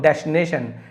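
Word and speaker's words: destination: जैसे कि होगी आपका डेस, है ना, फिर टी आई को टी पढ़ते डेस्टी, एन ए ने हो गया, टी आई ओ एन को हम शन पढ़ते, शक्कर का श और न, ऐसे शन, ये हो गया आपका डेस्टिनेशन।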